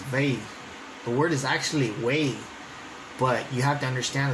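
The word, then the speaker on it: huei: So way, which today we would spell it as H-U-E-I, or a variant of that, or with some other modern, they would say W-E-I, way. They would write it as vei.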